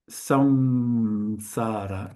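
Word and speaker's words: saṃsāra: It's pronounced with a bit of a nasal here actually over here because this is a anusara.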